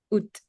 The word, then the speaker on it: août: Ici ça c'est pas ou mais c'est août. Out avec le T. C'est normalement le thé il est pas prononcé mais ici il est prononcé bien.